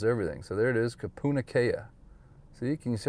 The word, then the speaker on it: Kapunakea: But eventually, if you watch enough news reports, you'll figure out how to pronounce everything. So there it is, Kapunakea.